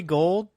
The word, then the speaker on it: Gould: this one go the plus Robbie Robbie Robbie Gould his last name is also you know it's